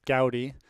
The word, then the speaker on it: Gowdy: in the chat mandy goodies mom manny gowdy it was pointed out in the chat earlier that is gowdy i've been saying it wrong for quite a while uh it looks like